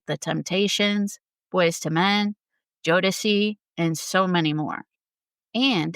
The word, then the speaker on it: Jodeci: I think I said Jodeci. So I apologize. It is Jodeci.